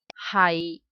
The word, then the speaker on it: 係: We pronounce as 係 If I say he is my brother.